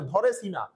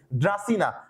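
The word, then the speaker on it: Dracaena: ড্রাসিনা আমি পড়তাম এভাবে ধরে সিনা। ধরে দিয়ে কি? ধরেনা সঠিক উচ্চারণ কি? ড্রাসিনা।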